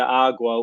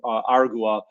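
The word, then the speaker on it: Aragua: And then he just points out Tren de Agua, which, remember, Argua, I should say, to pronounce it properly.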